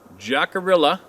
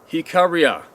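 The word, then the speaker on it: Jicarilla: it's about this digital photo who too experienced jackarilla hika riha oh that's oh sorry that's how it's pronounced hikaria hikariha hikaria hikaria all right this is how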